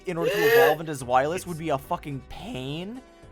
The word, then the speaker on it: Zweilous: I called Zweilous and Hydreigon by this correct pronunciation, but Dino is funnier. It's Zweilous.